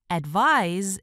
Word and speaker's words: advise: Advise is a verb. To advise is to give an opinion or a suggestion to someone about what that person should do. Advise rhymes with eyes or size.